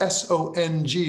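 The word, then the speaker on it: sōng: a concept it's spelled it's transcribed as s-o-n-g like song it's pronounced in chinese more or less and it essentially means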